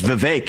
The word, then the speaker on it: Vivek: often open up I say my name is Vivek it rhymes with cake it ain't about thee